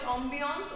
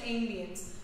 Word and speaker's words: ambience: Now ambiance or ambience, both the pronunciations are correct. The spelling is same, but people pronounce it in two different manner. You can you can either call it ambiance or you can call it ambience.